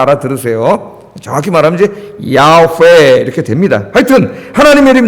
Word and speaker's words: 야훼: 원래는 여호와는 아니라 그랬죠. 자음만 읽으면 야훼 그렇게 읽어진다 그랬어요. 야훼.